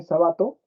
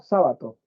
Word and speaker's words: Sábato: no o sabato perdón si algunos dicen sabato y ahí parece que dijera jabato no la cría del de jabalí pero es sábato ya sí Está bien